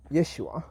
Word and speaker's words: Yeshua: of the lord is yeshua if you say that slowly is yes you are so when you say